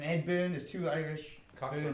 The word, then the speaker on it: Cockburn: Cockburn. It's probably the burn. Yeah. Cockburn, yeah. It's pronounced Coburn.